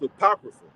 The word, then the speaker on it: apocrypha: That's an A supposed to be there, right? So that's pronounced apocrypha.